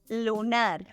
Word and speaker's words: lunar: only difference is that in Spanish the stressed syllable is in the last position so we pronounce it as lunar solar solar in this